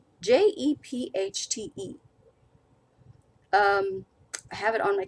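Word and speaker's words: Jephte: I always pronounced it Jeffite's daughter, but Jepchte.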